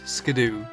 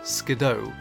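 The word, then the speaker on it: Skiddo: looked at the name, I immediately thought Scadoo. However, if you look at how the name is spelled, it's actually spelled out as Skido. This is made even more apparent when the origins of the name turns out to be a combination of skid and kiddo, which is a term used for young goats.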